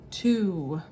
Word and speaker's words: two: number two and then we know that is the t sound two even though it sounds like there's a u in there it's two two hopefully you remembered that